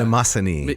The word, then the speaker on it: Mnemosyne: unpronounceable. Mnemosyne. Oh, of course, right. So, yeah. Mnemosyne.